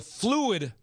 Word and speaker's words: Phluid: He's founder and CEO of the Fluid Project, and that's spelled Phluid.